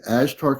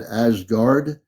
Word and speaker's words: Ashtar: And it's actually Ashtar Command, not Ashgard. It's Ashtar, Lee. It's ASHTAR Command. Ashtar, ASHTAR.